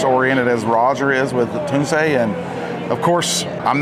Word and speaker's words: Tunze: And I got to say, one of the most consistent things about the hobby has been Tuni. And I'm That's how you say it, folks.